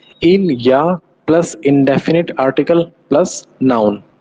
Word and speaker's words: il y a: इलिया का मतलब होता है देयर इज या फिर देयर आर. ओके, और इसका प्रोनाउंसिएशन कैसे किया जाता है. इसका प्रोनाउंसिएशन होता है इल या.